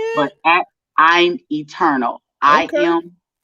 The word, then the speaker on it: Eturnul: my name there at i'm eternal eternal is spelled e t u r n u l if you guys are